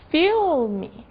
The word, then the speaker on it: film: De forma que dizendo filme fica mais fácil de dizer film.